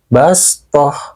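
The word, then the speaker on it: بَسْطَةً: wayabsutu dibaca wayabsutu dan juga lafal bastoh dibaca bastoh terus apabila Sin kecilnya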